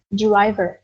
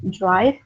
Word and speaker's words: drive: Ok, có nhiều bạn đọc như này deriver, deriver, thì bạn sẽ hình dung đến là refer to tài xế, đúng không? Yeah, the one who controls the car or the vehicle, but no, they are talking about the word drive. Okay, drive.